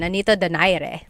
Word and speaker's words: Nonito Donaire: So our first poll here is going to be Manny Pacquiao versus Nonito Donaire, or is in the Tagalog pronunciation, Nonito Donaire.